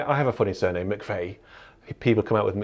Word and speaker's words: McVeigh: road called eastleigh and the final few letters of eastleigh are the same letters of my surname but yeah it's a completely different pronunciation mcv eastly now it's mcveigh east lay east lay right eastlay